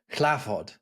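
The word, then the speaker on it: hlāford: Words like Lord, we've talked about, I'm sure before, how the word Lord, clavod, begins with an H in Old English.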